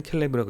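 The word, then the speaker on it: כלב: 개는 켈레브라고 읽고 갈렙은 갈렙이라고 읽습니다.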